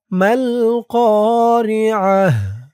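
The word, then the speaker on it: ما القارعة: মা আরে র কা, মিম লাম জবর মাল, কফ আলিফ জবর ক, মাল ক, রজের রি, মাল করি, আইন জবর আ, মাল করিআ, তা পেশ তু, মাল করিআহ, মাল করিআহ।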